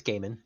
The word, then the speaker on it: Gaiman: Or Neil Gaiman, however you pronounce it. It's Gaiman.